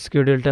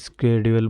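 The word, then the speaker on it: schedule: আর এটা হচ্ছে মানে আমরা বাঙালিরা এটা মূলত শিডিউল নামে উচ্চারণ করতাম, কিন্তু এখন আপডেট যে আমরা অনেক কিছু দেখতেছি, এখন আপডেট হচ্ছে আর আমরা এর শুদ্ধ উচ্চারণগুলো দেখতেছি। তখন আমি নিজেও আগে শিডিউলই বলতাম, এখন না স্কেডিউল বলতেছে।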